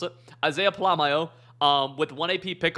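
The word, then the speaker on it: Polamalu: two cats here okay we're gonna have Isaiah palamaio but that's how you pronounce it Isaiah palamaio um with one AP pick artist and then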